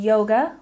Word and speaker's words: yoga: And yoga, we stress the first syllable.